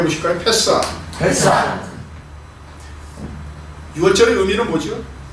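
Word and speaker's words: פסח: 히브리어는 패사. 한번 같이 발음해 보실까요? 패사.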